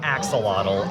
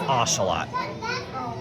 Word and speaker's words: axolotl: Ocelot alert, and that is the correct pronunciation by the way. It's not axolotl, it's axolotl.